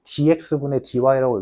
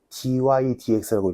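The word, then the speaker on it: dy/dx: 근데 요거 딱 하나만 이거 dx분 dy라고 읽으면 개 쪽 팔린 거다. dy dx라고 읽어야 돼. 책 써 있지, 얘들아. 조그만하게 써 있을 거야. 아마 dx dy라고 읽으면 무식한 거다. dydx 분해도 필요 없어. dydx라고 읽는 거야. 오케이? 그것만 dy dx로 읽는다.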